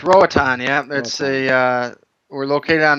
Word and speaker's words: Roatan: Rotan. It's Roatan, yeah.